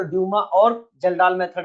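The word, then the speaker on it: Kjeldahl: पहला क्या है, एक का नाम है ड्यूमास मेथड, दूसरा है जल्डाल मेथड, हिंदी में बोलते हैं कैल्डाल, जे को साइलेंट बोल देते हैं।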